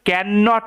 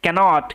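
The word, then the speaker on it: can't: কিন্তু তবুও আই ক্যানট এটার উচ্চারণটা কিন্তু ক্যান ননট এরকম নয় ক্যানট ক্যানট এরকম ভাবে ওকে আই ক্যানট ওয়াক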